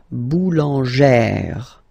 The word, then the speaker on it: boulangère: Remember, when you've got this E plus this accent grave, you pronounce it like E, really open E sound, okay? So, boulanger, boulanger, and then feminine form, boulangère, boulangère. Same thing, don't insist too much on the final E, boulangère, okay?